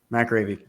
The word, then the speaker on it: McAreavy: Did I say it right, McAreavy? McAreavy.